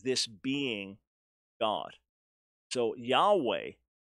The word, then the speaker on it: Yahweh: this being God so Yahweh which is the Covenant or name of the Lord most likely pronounce y'all way you never have ha